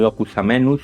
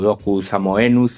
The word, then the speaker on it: locus amoenus: este lugar idico este lo que llamamos un locus amenus o locus amoenus Depende como queráis pronunciarlo es un lugar agradable en el campo